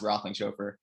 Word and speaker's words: Roethlingshoefer: Justin and I, he's a hard last name. It's pronounced Roethlingshoefer.